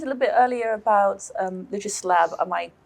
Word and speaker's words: Lexis Lab: I mean, you mentioned a little bit earlier about Lexis Lab. Am I pronouncing that correctly?